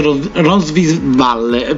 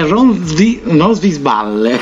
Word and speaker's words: Ronsisvalle: Tra l'altro ovviamente ci sarà un'intervista ad una bravissima attrice, ovvero Alice Ronsvig-Valle, mi viene un pochettino male pronunciarlo, è Ronsvisballe, ecco.